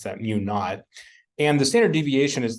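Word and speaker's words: μ₀: hypothetical so it gets a subscript zero we pronounce that mu naught and the standard deviation is the standard deviation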